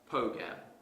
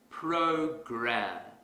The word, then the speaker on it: program: Going back to our previous example, suppose I pronounce this word as pogam. That's incorrect because the R sound is missing. If I want to fix this mistake quickly, I will exaggerate the R sound. Program.